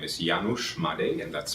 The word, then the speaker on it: Janusz Madej: writer of the movie stigma my name is janusz made and that's spelled j-a-n-u-s-z m-a-d-e-j okay wonderful um tell us